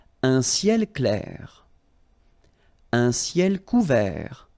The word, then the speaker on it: couvert: Un ciel couvert, final T not pronounced.